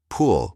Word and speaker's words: pool: Pull with a short u like in put. pool with a long oo.